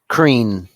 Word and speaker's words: Kreen: Is it Keen or Kreen? Kreen. Yeah, Kreen. Yeah.